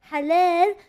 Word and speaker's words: halal: Because a lot of people say halal, which I understand because they don't know how to properly say it. It's halal. It means good.